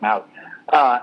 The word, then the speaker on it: Mawae: Mawae was put in, or Maui, I think I'm pronouncing that wrong. I think it's pronounced Maui.